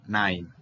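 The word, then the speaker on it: nein: un simple no line recordemos que la e ina y se pronuncian como hay en la mayoría de casos nine muy bien continuamos ahora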